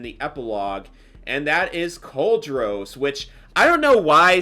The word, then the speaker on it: Cauldros: And um now saying it in its correct pronunciation, it's cauldros.